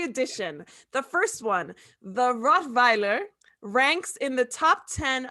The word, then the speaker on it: Rottweiler: What is the right pronunciation for Rottweiler? So Germans, we pronounce a W as a V. So it's not, so you say Rottweiler, the Weiler, we say Rottweiler.